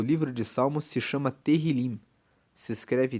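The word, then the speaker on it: Tehilim: Inclusive, no hebraico, o livro de Salmos se chama Terrilim. se escreve t e h i l i m e terrilim significa louvores.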